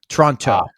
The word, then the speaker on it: Toronto: the right way you you didn't pronounce the second T now you said it the right way oh most people not from Toronto say Toronto Toronto you said Toronto which